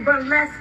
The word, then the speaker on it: burlesque: a blessed dancer baby burlesque rhymes with flesh and you need to